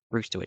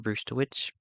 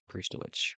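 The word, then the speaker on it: Brzustewicz: It's Hunter Brewster. I'm pretty sure I'm saying that correctly. Hunter Bruce the witch.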